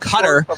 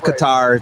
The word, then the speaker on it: Qatar: being a YouTube member it's pronounced cutter like the kingdom of Qatar of cutter Americans have their own language they pronounce is Qatar just saying I'm just